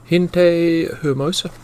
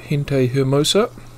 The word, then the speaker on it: Gente Hermosa: up within mr google gente hermosa that's spanish for beautiful people the g is pronounced with an h here we are okay